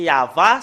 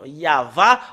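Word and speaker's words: יהוה: vraiment un grand trucage le nom du père yayava en moins l'an 2000 nous voyons très bien que c'est yava son nom c'est vraiment très très clair le nom yava en l'an moin 2000 et j'espère bien que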